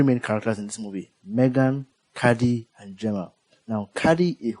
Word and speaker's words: M3GAN: in this movie is M3 like the number three G A N cuz supposed to be like a model three uh robots. There are three main characters in this movie. Megan, Caddy, and Gemma.